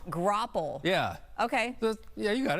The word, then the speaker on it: graupel: How do you pronounce it again? Graupel? Graupel.